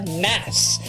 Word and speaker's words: Nas: And in a special in-house version of the game, I actually have the rapper Nas. N-A-S or Nas, as a lot of other people pronounce it.